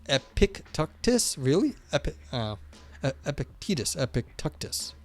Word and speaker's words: Epictetus: Greeks so it's like Epictetus um pronounced epic tactus really epic Epictetus epic